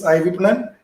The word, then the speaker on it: iVipnan: But so let me pronounce for all of you. It's iVipnan.